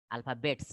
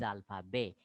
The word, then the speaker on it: alphabet: Alphabets, no. Les alphabet. Ending is silent, I told. T is silent. Les alphabet.